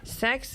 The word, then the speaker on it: CeX: CeX versus d-e-x yeah it's a soft C Soft C yeah definitely not the same thing all right um so